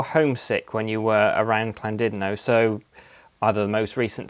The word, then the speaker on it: Llandudno: can we go to Llandudno, like, or Llandudno? I know it is Llandudno. It's spelled saying by the Welsh, isn't it? And we say Llandudno. It's just my accent, but I always wanted